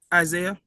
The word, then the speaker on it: Isaiah: Isaiah.